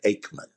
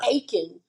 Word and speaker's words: Akeman: Aman. Okay. String bean and a spell Aman. Aman. Aman. Not Achen.